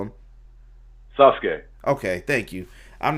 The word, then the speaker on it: Sasuke: SASE or sazuk do what what's the proper pronunciation of it Brian what do you call him Sasuke okay thank you I'm not crazy and uh